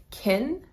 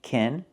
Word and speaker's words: can: In positive sentences, it is pronounced kin and is unstressed. I can do that. I can do that. I can do that. This word is pronounced kin in a positive sentence and it's not stressed.